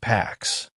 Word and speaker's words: PACCS: Additional aircraft were added to the post attack command control system, which planners called PACCS, pronounced PAX.